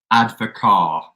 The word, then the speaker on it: Advocaat: Yeah, ADVOCAAT, Advocar. So the T is silent.